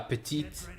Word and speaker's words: petit: And in French, when it ends with the T, with an E at the end, that's when you pronounce the T. So when it's a female, you go la petite, and when it's male, you go un petit.